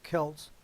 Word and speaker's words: Celts: Exactly where and exactly when the ancient Celts, or I'll pronounce it properly, Celts, suddenly appear in history just north of the Caucasus Mountains.